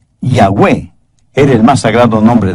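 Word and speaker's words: Yahweh: lo he dicho anteriormente Jehová es yahwe palabra realmente impronunciable porque está compuesta de cuatro consonantes yahwe era el más sagrado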